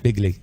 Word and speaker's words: Begley: how to say it Zach bigley how would you say his last name Pig lead him big lead there we go big league and his big league